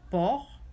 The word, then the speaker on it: porc: So the exceptions are nasal vowels and these words: estomac, porc, and tabac. We don't pronounce the C's.